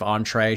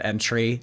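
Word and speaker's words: entrée: Instead of entree, she said entry.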